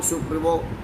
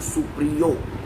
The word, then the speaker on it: सुप्रियो: तो बाबुल सुप्रीमो नहीं है, उच्चारण में गलत, बाबुल सुप्रियो नाम है उसका।